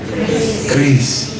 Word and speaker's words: QRIS: Jadi saya menyampaikan informasi juga, saya pernah dikoreksi juga, bukan QRIS Pak, tapi benar itu kris. Nah, lebih mudah aja kris, walaupun pakai Q, tapi bacanya tetap kris.